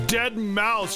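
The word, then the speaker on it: deadmau5: you'd be like hey it's dead mouse you don't pronounce the five and it's just one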